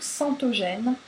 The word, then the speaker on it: Centogene: internet, donc ça s'écrit, c'est Centogene pour ceux qui parlent allemand, C-E-N-T-O-G-E-N-E, donc C-E-N-T-O-G-E-N-E, comme un gène.